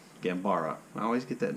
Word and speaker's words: Gambara: masterpiece and then uh the second one was gambala gambara i always get that name wrong anyway the second story was gambara so